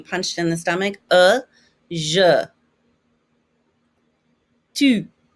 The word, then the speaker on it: tu: Tu. You know how when you say the U, your chin is out a little bit if you're saying it correctly.